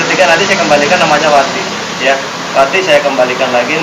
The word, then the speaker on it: Wati: W A T I dibacanya Wati.